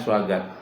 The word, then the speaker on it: Swaggart: Swaggart tuh tulisannya Swagarte. Bacanya Swaggart. Suanya itu pakai W.